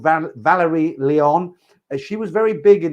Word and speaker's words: Leon: I think it's Leon or not Lion, Leon, Valerie Leon.